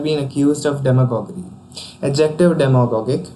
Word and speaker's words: demagogic: Adjective demagogic. In its pronunciation there is stress on dem syllable in hearsay usage.